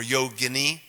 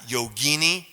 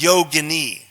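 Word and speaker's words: yoginī: no it's yogini okay if it rhymes with fettuccine linguine is probably an Italian preparation okay but it is yo Guinea yo Guinea okay so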